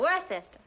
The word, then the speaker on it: Worcester: But it's spelled W-O-R-C-E-S-T-E-R.